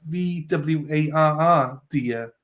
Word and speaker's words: voir dire: Spelled Voir Dire, pronounced Voir Dire. This is the thing, though. Why do they spell it? Why don't they just spell it like VWARR, dear? If they want me to say that, then spell it like that.